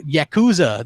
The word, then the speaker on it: Yakuza: Wait, is that Yakuza? That's how you say it.